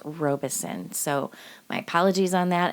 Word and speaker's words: Robison: So, the pronunciation for part 1, I was saying Robison for the family, and it's not Robison, it's Robison. So, my apologies on that, everyone. The name is pronounced Robison.